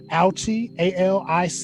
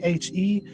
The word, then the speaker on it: Aliche: I think her last name is pronounced Aliche, Aliche.